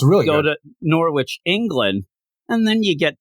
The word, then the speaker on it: Norwich: It's Norwich, England, is how they say it.